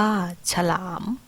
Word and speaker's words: ฉลาม: มี อร่อย อ่าน ว่า อร่อย ฉลาม อ่าน ว่า ฉลาม ออก เสียง อะ กึ่ง เสียง ระหว่าง คำ เช่น